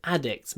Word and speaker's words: addicts: people with are drug addicts many of our patients are drug addicts not they are addicts when you say addicts make sure you open your mouth ad ad ad addicts addicts they're drug addicts